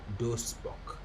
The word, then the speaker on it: Duisburg: In German, Duisburg is pronounced as Duisburg.